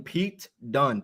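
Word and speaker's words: Pete Dunne: that we call him Pete dun Pete February though Pete p t duu n NE all right that's the only way it's ever been spelled it's the only way it's ever been pronounced get it right never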